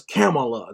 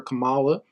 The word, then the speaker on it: Kamala: they were calling her Camala when she was doing her first presidential run they were calling her Camala but now all of a sudden you have to pronounce it camela and it's just ridiculous